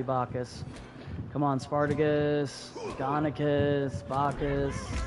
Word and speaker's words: Bacchus: Maybe it's because you got his name wrong. It is Bacchus. He's Roman. It's literally Bacchus.